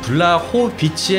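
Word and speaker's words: Błachowicz: 말아 주십시오 아 그리고 최근까지 블라우 빛이 선수의 이름을 국내에서는 블락 호 빛이라고 표기 했었는데요 현지 발음은 블라 코 비치 에 가깝다고 하여 최근에 공식적으로 이 부분이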